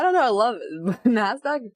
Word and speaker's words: NASDAQ: NASDAQ rhymes with backpack.